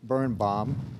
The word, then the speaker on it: Berenbaum: Our next presenter is Birnbaum. That's the Philadelphia explanation or pronunciation of that name.